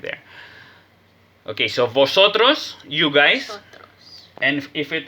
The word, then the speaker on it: vosotros: in official neutral accent there's no v sound there's none it sounds like a b vosotros that's the official neutral